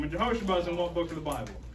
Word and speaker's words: Jehosheba: Yes, Jehosheba is how you pronounce her name. And Jehosheba is in what book of the Bible?